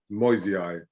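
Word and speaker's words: moyesii: I suppose it's just, you could say it's MOY, Moi, and then the S is a Z, a Z, Moisei.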